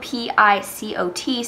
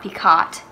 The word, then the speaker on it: picot: ot so it's not peacott and for a long time when I was little and learned that name I pronounced it correctly incorrectly but it is actually French so it's pronounced picot um and picot is